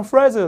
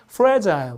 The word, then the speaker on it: fragile: 그래서 실제로 이제 미국 사람은 fragile 이렇게 쓰는데 역시 또 I 발음은 영국 사람 I 좋아하니까 약간 발음이 fragile 이렇게 발음이 납니다.